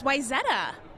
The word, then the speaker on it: Wayzata: Well, I would say Wayzata. That was pretty good. It's Wayzata.